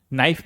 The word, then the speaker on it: knife: जैसे नाइफ में नाइफ में के साइलेंट ऑनेस्ट में एच साइलेंट और डाउट में डाउट में बी साइलेंट।